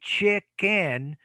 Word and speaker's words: chicken: it's not just chicken but it's chick on on chicken so it's a syllabic end not the normal end as in nap or design remember that a syllabic